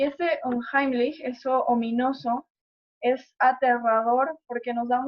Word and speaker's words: unheimlich: concepto de lo ominoso, que si no mal lo pronuncio en alemán es unheimlich, y que, bueno, básicamente